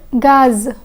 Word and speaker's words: gaz: Riz and gaz. Riz and gaz. The Z in riz is silent, but the Z in gaz is pronounced.